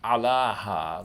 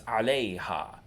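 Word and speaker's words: عليها: Notice that the alif maksura that we end ala with changes to a ya here. So it's not alaha, like that would make sense, but it's alayha.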